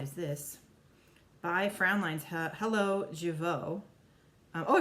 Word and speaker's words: Jeuveau: So now we have Jeuveau. What is this? By Frownlines. Hello, Jeuveau. I pronounced that right.